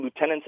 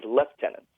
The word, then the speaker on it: lieutenant: of members including myself referred to lieutenants as left tenants and that's also very common in the British Army and the the British Armed Forces in general so I was always wondering why it's pronounced that way uh especially in the more Commonwealth Nations compared to let's say in the states where the rank is referred to as Lieutenant yeah that's a really